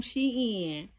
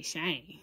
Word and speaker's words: SHEIN: used to call that I used to call the company Shane I actually like you